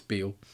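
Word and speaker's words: Bele: this the ship disintegrating but then it has transported another black and white dude aboard this is b or Beal I should say it looks like B the way it's spelled but it's Beal uh which just makes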